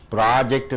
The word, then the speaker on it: project: ப்ராஜெக்ட் என்று சொல்லுவோம். PROJECT. ப்ராஜெக்ட் என்றால் என்ன? அந்த கழுத்தம் கொடுத்துட்டீங்கன்னா ஆய்வு. ஜெக்ட் கழுத்தம் கொடுத்துட்டீங்கன்னா காண்பி.